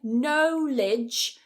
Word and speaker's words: knowledge: Over here, instead of saying knowledge, we're not going to say that as O, we're going to say it as O, like dog. No. Knowledge. Knowledge.